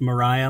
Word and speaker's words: Moriah: I think it's pronounced Moriah, Mount Moriah. Yes, that's what it is.